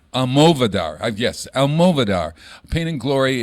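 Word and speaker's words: Almodóvar: You know, he's in a movie called Pain and Glory, where it's about Pedro Almodovar. How do you say that name? Almodovar? Almodovar.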